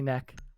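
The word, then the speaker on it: Nøkk: Nook. Yeah, I think it's Nook. It's definitely neck. Neck, okay, like a redneck.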